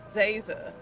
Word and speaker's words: Zaza: doing it on purpose it's Professor Zaza like laser with a zed how hard is that